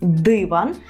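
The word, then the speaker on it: dywan: поїхали почуєте ви слово диван у польській мові Зверніть увагу на наголос диван і що ви подумаєте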